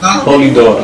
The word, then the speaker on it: Polidori: Oui, Polidori. Polidori. P-O-L-I, D-O-R-I, comme ça se prononce.